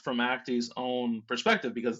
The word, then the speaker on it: Acte: begin with the story of I believe it's Acti. Is that how you pronounce it? Yeah. What can you what? Why is Acti important?